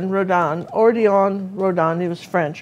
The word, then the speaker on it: Redon: Okay, and if you guys want to remember who that was Rodin? Yeah, well, I don't know how you say it, but yeah, it was. And it just. Well, don't ask me. Well, it's Redon, Odilon Redon.